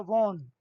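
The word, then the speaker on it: won: You know sir we have वॉन, ये वैसे हम पढ़ते हैं इसको वॉन है, एक्चुअली इसका प्रोनाउंसिएशन वन होता है, वन।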